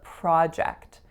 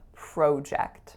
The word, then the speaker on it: project: first word is a project like I'm working on a really interesting project in the States in Canada I grew up saying project so you guys can